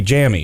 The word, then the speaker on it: Jammi: j-a-m-m-i not making the connection that tammy is pronounced correctly so it would be jammy that's the drugs man all right well i